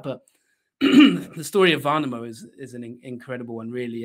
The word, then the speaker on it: Värnamo: I think the pronunciation was quite good, actually. The Värnamo part of it, it's not easy for you guys with no in the language.